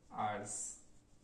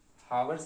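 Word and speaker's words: hours: फॉर 2 आवर्स। Okay, हावर्स नहीं बोलते हैं इसको, आवर्स बोलते हैं, ठीक है। यहाँ पे क्या है? यच साइलेंट है।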